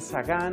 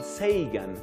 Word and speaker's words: Sagan: se llama carl sagan hay distintos modos de pronunciar el apellido algunos dicen sagan otros dicen sigan que parece que es la pronunciación norteamericana más comunicar al sheikh and